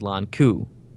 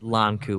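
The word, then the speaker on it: Lon'qu: Second time, I got Owain with his father known as Lon Ku, or I don't know how to say it, but it's LON''QU. So I think it's Lon Ku. I think Lon Ku is right, yep.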